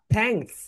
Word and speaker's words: thanks: তোমরা যখন এই থা উচ্চারণ করবে তখন তোমাদের দুইটা যে তিত রয়েছে, রাইট, দাঁত, উপরের সারি এবং নিচের সারির মাঝখানে তোমাদের জিহ্বাটা লেগে যাবে এরকম ভাবে।